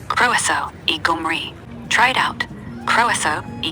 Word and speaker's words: croeso i Gymru: Pronounced croeso I Gymru. Try it out. Croeso I Gaerdydd and croeso I Gymru.